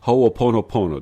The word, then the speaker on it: Ho'oponopono: I believe it's Ho'oponopono. Did I say it correctly? Pretty good. Pretty good. It's Ho'o, which means to make, pono, good, to make right.